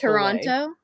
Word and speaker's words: Toronto: Yeah, so it's Toronto, Toronto. but locals say it Toronto. Yeah. They like take Toronto. out the second T.